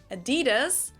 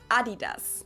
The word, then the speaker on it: Adidas: were referring to because they usually pronounce it Adidas. And in Germany, we say Adidas. Wow. Adidas, Adidas. Super different.